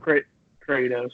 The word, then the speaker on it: Kratos: Versus the 2 seed from God of War, Kratos, however you fucking pronounce it. Kratos, yeah.